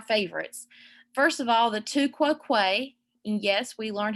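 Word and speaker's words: tu quoque: two of our favorites first of all the two quo quay and yes we learned how to pronounce that correctly you're welcome um for this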